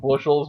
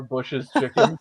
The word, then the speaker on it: Bush's Chicken: It'd probably be like, hey, we need you to stop pronouncing it Bushels. We actually are Bush's Chicken.